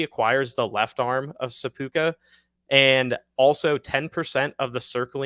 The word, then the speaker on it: seppuku: I think that's how you pronounce it, actually, seppuku.